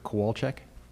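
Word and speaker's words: Kwalczyk: uh good morning everybody my name is representing Richardson engineering um my last name is k w a l c z YK could you pronounce that again sure kowal okay our company address is 7 Dennison Street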